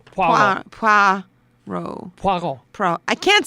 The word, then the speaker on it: Poirot: Say wa. Wa. Say foie. Foie. Say pois. Pois. Boom. Poirot.